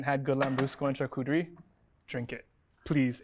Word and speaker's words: charcuterie: me to say how did you use to pronounce it before i used to say a character close enough yes but i know how to say it now charcuterie yeah can you say that like ten times shakutari not ten times after the first couple glasses